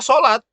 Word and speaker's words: salat: Tetap saja sholat, jangan salat ya. Karena apa? Bahasa Arab. Bahasa Arabnya masih tetap sholat. Sama seperti Ramadan. Yang benar begini enggak? Kalau di kita kan sukanya begini. Ramadhan, ada Ramadan, ada Ramadlan. Yang benar yang mana? Nggak pakai H. Nggak pakai H. Bentuk tidak bakunya Ramadhan. Ini bentuk bakunya Ramadan. Oke, dibacanya apa? Ramadan, tetap bahasa Arab.